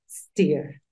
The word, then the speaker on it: steer: Y como la pronuncias, en este caso es steer, steer. No es steer, porque el sonido en inglés aparece desde la S.